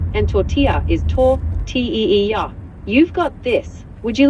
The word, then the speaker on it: tortilla: Paella is pronounced pa-e-h-ya, and tortilla is tor-t-e-e-ya.